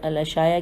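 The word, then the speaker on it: الإشاعة: میں آ گئی، اور الاشاعہ کی الف لام الف شین الف عین ہے الاشاعہ میں، اور ابن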